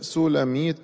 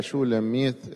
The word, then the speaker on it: شولاميت: حرف السين وحرف الشين في اللغة العبرية يتبادلة، يعني ممكن نقول يشوع هو يسوع، وموشى هو موسى. فشولاميت ممكن تتنطق سولاميت، معناها المؤنث بتاع سليمان.